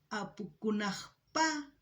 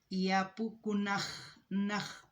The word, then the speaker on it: Apukunajpa: En quechua boliviano sería Apukunajpa Kutimuynin. No sé si se han dado cuenta cuando digo Apukunapa y Apukunajpa Kutimuynin. Hay diferentes palabras, la forma de pronunciar. Hay variantes, pero se entiende.